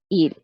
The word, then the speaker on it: ils: El sujeto, que ahora le voy a poner la S al final, en vez de poner solo il, ahora yo pongo il con la S, pero se pronuncia il.